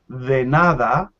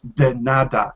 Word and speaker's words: de nada: yes the d in the d in spanish is softer the nada it's like the sound we make in english with the th combination when we say this that those so that it's very closer it's not quite the same but it's very close so we say de nada and now a strong d like in english de nada no nada softer gracious now um some